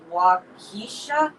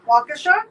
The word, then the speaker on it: Waukesha: this but it's a wisconsin uh name it's waukeesha waukesha waukesha hey that's where our daughter went to